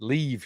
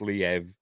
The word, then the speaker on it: Liev: than him but for years and years I've pronounced it leave Schreiber then I was told it's pronounced Liev but then when all these Ukraine stuff started